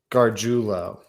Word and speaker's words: Gargiulo: Gargiulo.